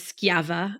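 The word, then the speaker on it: Schiava: people might not have heard of which is skava and Lin if I'm pronouncing correctly would you like correct okay good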